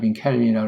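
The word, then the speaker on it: Calvin: 있는 분이 종교개혁을 마무리한 장 깔뱅이잖아요. 미국 발음으로 캘빈이라고 하는데 우리 깔뱅의 그 흠엔고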